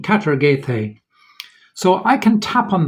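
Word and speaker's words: καταργηθῇ: And it's this Greek word here, which has an anglicized pronunciation, katargethe.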